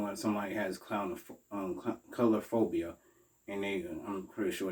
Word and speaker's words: coulrophobia: like such as the color phobia fear of clowns that's how you pronounce it color phobia not um the other way around no so it's pronounced color phobia so people that have